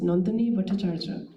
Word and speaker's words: Nandini Bhattacharya: my former students and whose name is in Bengali is pronounced Nandini Bhattacharya.